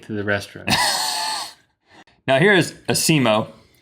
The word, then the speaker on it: ASIMO: makes this one, the Asimo. I don't know exactly how you pronounce that, but it's ASIMO. I'm sure it stands for something. It's an acronym for something. Well, let's emphasize the emo part.